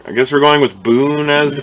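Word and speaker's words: Bune: like we heard i guess we're going with boone as the pronunciation for b-u-n-e i find it easier to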